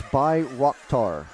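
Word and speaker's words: Bayraktar: thanks for broadcasting and it's by rockar by Rock okay all right well I'll try to remember that but it is spelled Bay ratar so sorry oh okay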